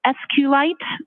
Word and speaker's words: SQLite: lowercase i t and sqlite uh is also commonly pronounced as SQ light so both pronunciations are acceptable now once you received